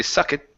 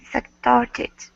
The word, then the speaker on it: sucked: But in doing so, make sure you're not pronouncing that e. We don't want to say suck it. Suck toward it. Okay. I I start getting sucked.